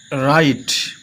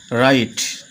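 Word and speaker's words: write: রাইট। কি উচ্চারণ হচ্ছে? রাইট। দেখো বন্ধুরা এখানে এই ডবলিউ এর কোন উচ্চারণ হল না।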